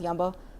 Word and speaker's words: Jambo: It's pronounced Jambo in different Swahili countries. In Zanzibar, it's Yambo.